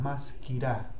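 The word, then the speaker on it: מזכירה: Ah, los femeninos terminan en A, maskirá.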